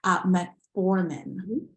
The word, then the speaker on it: metformin: And one thing that was in there was metformin. Did I pronounce that correctly?